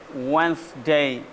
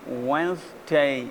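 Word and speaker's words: Wednesday: डे स day okay then we have D एंड E sound को यहां पर साइलेंट करने की कोशिश की गई है बल्कि यह साइलेंट वर्ड बस समझने के तबार से ठीक है इसको साइलेंट नहीं बोला जाता यह कनेक्शन ऑफ साउंड साउंड को कनेक्ट करने की कोशिश की जा रही है नेक्स्ट सिस जनवरी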